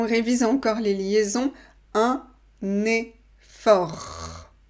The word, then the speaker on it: effort: Fais un effort. Impératif du verbe faire. Fais un effort. On révise encore les liaisons. Un effort. On ne prononce pas le T final.